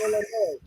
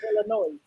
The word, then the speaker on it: Illinois: Illinois it's like bro I know you see a s but it's pronounced Illinois it's not pronounced Illinois like but yeah so